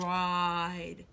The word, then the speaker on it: ride: first word is ride remember the e is silent and gives the babble power to the AI which gives us the long I sound ride we need to circle